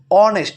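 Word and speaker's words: honest: একটা সহজ নিয়ম আমি কই যেমন এখানে দেখো অনেস্ট আচ্ছা অনেস্ট এর ভিতরে কি এইচ এর উচ্চারণ হইতেছে এইচ এর উচ্চারণ হয় না ঠিক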